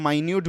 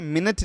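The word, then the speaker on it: minute: पे इसको हम लोग यहां प माइन्यूट बोलेंगे ओके मिनट नहीं बोलेंगे मिनट और माइन्यूट ओके मिनट और माइन्यूट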